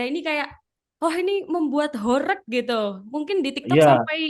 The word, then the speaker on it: horeg: So horek apa sound horek apa sound horeh gitu apa gimana? Yang benar itu sound horek, Kak.